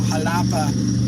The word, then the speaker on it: Xalapa: We're going to be going through Jalapa, Veracruz, which is spelled Xalapa.